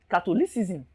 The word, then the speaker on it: catholicism: position of the stress we therefore stress catholicism as if we are stressing catholic now if you are stressing cartoon league catholic ends in lic or ic anytime a word ends in ic you place the stress on the syllable before